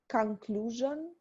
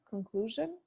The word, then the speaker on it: conclusion: pronunciation again you have a specific way of saying conclusion it's a strong J there I would use a softer one conclusion you said three point